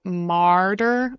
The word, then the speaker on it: martyr: mouth more on the It's not the same as murder. So, martyr, like my mouth is opening ma martyr, and then mer murder. Martyr. It's very similar. But the difference is the first vowel, mar mer.